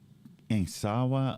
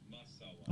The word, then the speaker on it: Masawa: Insawa or Kansawa? Oh no, Masawa. Masawa.